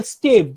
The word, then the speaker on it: stave: He will get composition over the musical stave, the way I hope you understand what is a musical stave or stav, that is how it is pronounced, that the way a graphical notation is used.